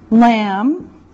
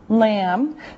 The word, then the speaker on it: lamb: general group beef beef lamb lamb now remember the B is silent no sound just lamb okay chicken chicken fish